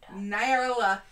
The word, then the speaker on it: Nyarlathotep: Nyarlathotep.